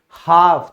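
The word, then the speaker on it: half: आधा, हाफ, तो यहां भी ए के बाद एल आया, इसीलिए साइलेंट हो गया।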